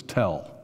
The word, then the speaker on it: Tel: The reason it's spelled different is, in Arabic it's tall, and in Hebrew it's tell. So a lot of times we hear tell.